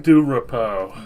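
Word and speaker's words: DuRapau: Montana how do you say his last name do repo do repo okay so Chris Stratton for most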